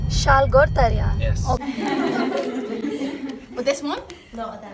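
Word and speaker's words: Salgótarján: And how to pronounce the name? Salgotarjan. Salgotarjan.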